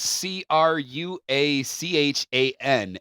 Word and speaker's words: Cruachan: It looks to me like Cruachan, which is Cruachan.